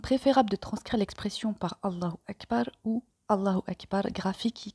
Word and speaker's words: Allahu Akbar: Ici, Allah étant sujet de la phrase Allah est plus grand, il prend donc la flexion du nominatif qui se marque par l'ajout de la voyelle brève U prononcée OU à la fin du mot.